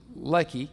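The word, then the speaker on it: Lehi: Ley now I mentioned that name Ley l e h i here's what that means pronounced Ley okay it means Jawbone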